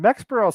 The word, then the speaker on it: Mexborough: was not far from mexborough which sounds mexberl sounds like a mexican